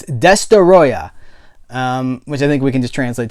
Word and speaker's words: Destoroyah: destoroyah which that's how I'm not being I'm not pronouncing that wrong it's desta ayah which I think we